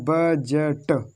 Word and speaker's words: budget: तो D silent रहेगा, तो यहाँ पर पढ़ना है बजट। डी को नहीं पढ़ना, इसको नहीं पढ़ना, सिर्फ इतना बजट, बजट, बजट, बजट।